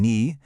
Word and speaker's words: knee: We have the silent k in knee, the silent w in write, and the silent b just hiding out there at the end of comb.